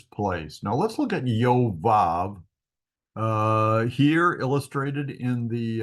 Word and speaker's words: Yoav: sure why it doesn't yoav is the emphasized syllable so I would say yav would be good but his name was yoav so there we are